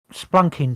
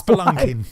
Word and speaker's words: spelunking: I Like, went splunking to Wiki you Hole.